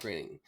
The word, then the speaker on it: Groening: For me, it was like, oh, Matt Groening, it rhymes with raining.